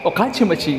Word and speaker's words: Okachimachi: Okachimachi station.